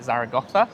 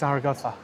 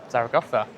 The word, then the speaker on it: Zaragoza: north now to Zara I'm going to say they're going to pronounce it Zaraga. It's Zarraa. Zarotha.